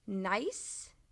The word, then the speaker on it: gneiss: Gneiss. This is pronounced like the word nice.